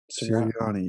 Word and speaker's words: Sirianni: Am I pronouncing this correctly? Sirianni. Sirianni.